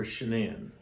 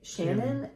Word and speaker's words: Shanann: It's Shanann. It kind of looks like Shannon, and her dad calls her Shannon. Okay. But I have it, you can't look at that because I have it spelled phonetically so that I'll remember how to say it correctly. But her husband and everybody else calls her Shanann.